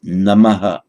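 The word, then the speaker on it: नमः: At the end, Namaha, Namo Namaha, in the word group. Namah Shri Paramatmane, without that echo of a vowel.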